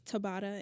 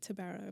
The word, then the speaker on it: Tabara: is tabara you know my name has a lot of A's so there's so many pronunciations of it it's Tabata in my language but you know I go by tabara because it's easier for people um to pronounce so what's your